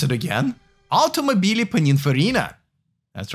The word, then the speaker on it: Automobili Pininfarina: I'll pronounce it again. Automobili Pininfarina.